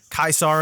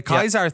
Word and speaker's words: Caesar: looked at you wrong the kaisar thing freaked me out for a while um apparently it is closer to the classical pronunciation uh oh right because of the way I guess Latin works is that they don't do the the S with the Caesar with with the AE following it so that's interesting I